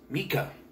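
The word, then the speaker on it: Mieke: but it's spelled m-i-e-k-e which is a german female name pronounced mika which he doesn't know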